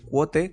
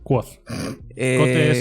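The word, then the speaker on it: Kvothe: Lo primero es que Quote, que creo que es así como se pronunciaría, que es el protagonista, es insoportable. Quoth. Quote es el bartender. Quoth es como se pronuncia el personaje.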